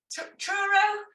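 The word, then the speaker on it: Truro: you very much next up we have okay churro or did I pronounce that wrong as well nope that's right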